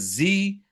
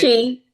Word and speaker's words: ZHI: It's Z Bath and Body. Is that it? Chee.